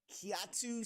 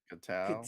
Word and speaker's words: Kitao: So this story says Kiatu Sakura. No, that's not how you pronounce that. Kitao? Kevin? Like way off. Sorry, James. Sorry, I don't know why I pronounced that so weird. No, it's Kitao.